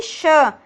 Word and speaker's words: श: अगला होता है हमारा ये श। श, से नहीं, इसे हम क्या बोलते हैं, श बोलते हैं।